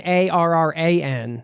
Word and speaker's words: Arran: And the Isle of Arran, Arran.